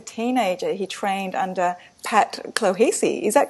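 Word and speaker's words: Clohessy: Robert, at the age of 14, was an outstanding track athlete, and as a teenager, he trained under Pat Clohesi. Is that correct? How I That's right.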